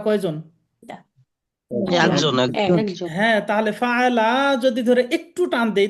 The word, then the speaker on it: فعل: আলম তারা কাইফা ফাআলা রাব্বুকা বিআসহাবিল ফিল। এখানে টানটা কিন্তু একটু হয়ে যাচ্ছে, হ্যাঁ। এই শব্দটাই ফাআলা শুধু বলেন তো।